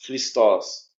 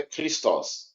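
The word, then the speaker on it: Χριστός: palavra ali por exemplo cristos cristos a muitas vezes na pronúncia ele vai sair como se fosse um R tá ele vai sair como fosse um é cristos cristos cristos R uns vai pronunciar como r r ri né A A então então às ve muitas vezes ele vai ter o som de ri r de R na garganta r r r r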